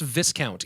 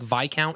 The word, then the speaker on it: Viscount: hey by the way it's not pronounced Viscount even though there's an s in the damn word it's like Vai count or something oh yeah I